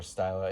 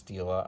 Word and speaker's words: Stila: The next Stila, I keep trying to pronounce it Stila or Styla. It's Stila, I know.